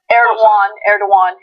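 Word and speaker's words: Erdoğan: So, I could see how under Erdogan, is that how you say his name? Erdogan.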